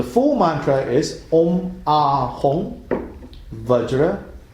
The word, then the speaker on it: Vajra: Yeah, so the full mantra is Om Ahum Vajra or Bajra Guru Pema Siddhi Hum. Om Ahum Vajra Guru Pema Siddhi Hum. Sometimes pronounced as Benza Guru Pema Siddhi Hum.